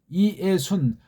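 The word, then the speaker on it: Ἰησοῦν: 사격은 이에순. 그렇게 발음하셔야 돼. 왜? 모음이 연속하면 이중모음이라고 해놓지 않은 다음에 따로따로 구별해서 발음을 해야 되기 때문에 그렇습니다.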